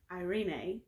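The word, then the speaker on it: εἰρήνη: actually is in the greek it is irene irene is how you pronounce it in the greek and its hebrew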